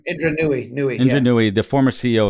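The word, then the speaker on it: Indra Nooyi: Is that how you pronounce her last name? Indra Nooy.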